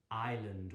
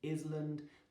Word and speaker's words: island: correct word is a Island well done and you don't say it is 'land the S is silent Island well done if